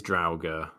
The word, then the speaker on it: Draugr: Draugr pronunciation. Here we go. It is Draugr.